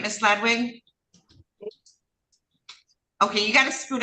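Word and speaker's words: Ladewig: name, Miss Underwood, it's Ladwig. I'm sorry. Pronounce the Her name is spelled L A D E W I G, but it's Ladwig is how she pronounces it.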